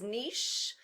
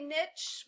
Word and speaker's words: niche: than we do but to me this rhymes with quiche it rhymes with quiche and it is niche um and you might